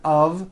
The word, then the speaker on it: of: speakers make this mistake even though the word of is spelled with an F we pronounce the word of with a voiced I know this sounds crazy but it's true for example Statue of Liberty and notice how